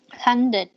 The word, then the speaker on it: handed: Handed. Perfect, lady. Handed. DD, right? D-E. Handed.